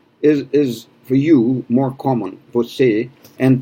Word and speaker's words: você: So você is for you more common, você, and pay attention to the e at the end, because on that same page in the book, you're going to have a difference between e and e.